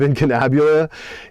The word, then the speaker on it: Incunabula: It's spelled wrong, Autechure, and then incunabule instead of incunabula.